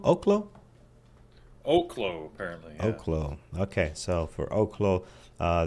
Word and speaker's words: Oklo: you you you told me how this is pronounced o oklo oklo oklo apparently oklo okay so for oklo uh this morning we